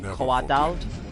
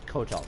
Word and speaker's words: Kotal: I love how they pronounce his name Koatal. Those who freed Melina. Even though his name is Kotal.